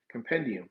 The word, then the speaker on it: compendium: No, we talking about the comp I feel like I feel like you're purposely saying it wrong. It's compendium.